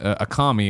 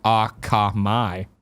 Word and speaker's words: Akamai: uh no man there's Jorge says I mispronounced a commie it's actually Akamai all right great yeah